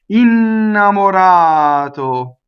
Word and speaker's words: innamorato: See, double consonant at the beginning, single M, flipped R, single T. Okay, now we know all of the innamorato, the accent is on the ah, so all of our O's in that word are closed. See, our work is done. There is never never an open vowel on an unstressed.